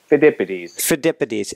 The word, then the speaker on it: Pheidippides: What's your best pronunciation? Pheidippides, and find out about Pheidippides.